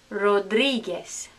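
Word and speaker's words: Rodríguez: Next one, Rodriguez, Rodriguez. Remember this? Ge. Rodriguez. Not Rodriguez. Rodriguez, no. Rodriguez.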